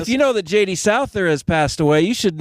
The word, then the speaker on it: Souther: just said it right s see it's JD Souther uh anyway we'll play his big hit coming